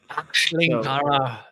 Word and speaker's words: Schlenkerla: Actually, I'm sure I'm Do you want me to pronounce it? I speak yeah. German. So Schlenkerla.